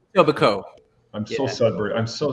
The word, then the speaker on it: Etobicoke: You don't pronounce the K at the end. You leave that silent. Etobicoke.